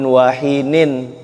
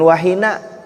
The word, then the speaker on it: wahinin: Hin itu Allahumma salli wa sallim ala sayyidina Muhammad fi kulli waqtin wahinin, bukan wahina, wahinin.